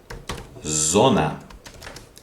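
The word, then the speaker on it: зона: Then we have the letter z. Z. For example, zona. Zone. Zona. Okay. Okay. And in English it's the word, for example, the word zoo. Okay, this is the same letter.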